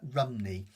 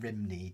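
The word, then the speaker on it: Rhymney: Um, if you if you say it in Welsh, I can't pronounce it completely in Welsh, but it's like um Rumney rather than Rimney, just so you know.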